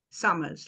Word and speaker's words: Somers: Summers, like the season.